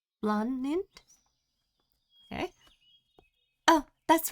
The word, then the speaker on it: Blaanid: So, I guess you pronounce her name as Blond. Blond.